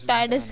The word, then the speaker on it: Tidis: मैं जैसे डिस कह रहा था वो टाइडस है, टाइडस।